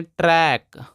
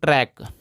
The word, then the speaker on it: track: है क, इसको पढ़ेंगे ट्रैक। ध्यान दीजिए दोस्तों, कहीं भी अगर के से पहले सी होता है तो सी साइलेंट होता है, इसका कोई भी उच्चारण नहीं होता है।